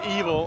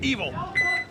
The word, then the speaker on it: Eval: Um, pronounced evil. I've been like I've gotten like five text messages from Happy Colon saying it's evil.